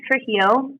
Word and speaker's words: Trujillo: isn't it it is yeah so it's it's pronounced trujillo and uh most people know me by my